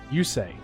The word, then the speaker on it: Yusei: say yeah that's how they say his name yusei yusei fudo you say you hope I say